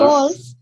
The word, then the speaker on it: Golf: गो को लंबा करेंगे, ल्फ को छोटा करेंगे. G as जी एज इन in गोल्फ. Golf.